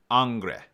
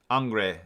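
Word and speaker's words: Ingres: She's got written phonetically Annngre, like Angle. So, Angre. Angre is the way that we're going to pronounce it according to Susan P. Faust.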